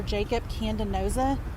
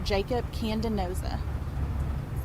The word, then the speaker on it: Jacob Candanoza: It's Officer Jacob Candenoza, JACOB CANDANOZA. Can you pronounce that one more time? Officer Jacob Candenoza.